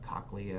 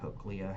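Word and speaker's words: cochlea: in this structure called the coccia or cookia, however you want to pronounce it.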